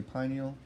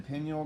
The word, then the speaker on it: pineal: called the pineal gland some people say pineal I disagree with that pronunciation okay and the Penuel gland is awareness Watchers